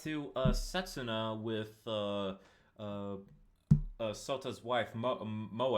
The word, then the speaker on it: Moe: Yeah, and then we cut to Setsuna with Sota's wife, Moe. I think that's how you pronounce it. Yes, it's Moe. Moe, Yes.